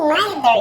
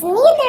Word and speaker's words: neither: Neither you can pronounce in two ways. Neither or neither. It doesn't matter if it's American or British. They pronounce the two ways.